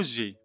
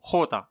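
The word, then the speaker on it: jota: خوتا هذا الحرف لا ننطقه جي ولكن ننطقه خوتا، دائما ينطق خاء.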